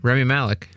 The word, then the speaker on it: Rami Malek: Rami Malek.